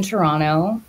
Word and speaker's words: Toronto: And I live in Toronto. The second T is silent for everyone out there on the West Coast.